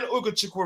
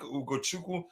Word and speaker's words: Ugochukwu: The name can be broken into 3 syllables. I think Ugochukwu. No, just two levels. And yeah, Ugo and Chiku.